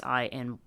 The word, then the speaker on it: iynx: She makes reference to a thing that looks like a toy called an Inks, Inx, and I think it's IYNX is how you spell it.